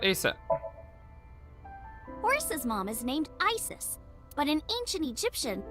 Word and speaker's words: Isis: Horace's mom is named Isis, but in ancient Egyptian, it's pronounced closer to Ise or Asa.